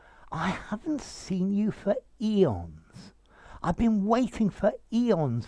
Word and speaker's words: aeon: noun very often plural eons notice you can also spell it a e o n but i would still say eon okay an eon is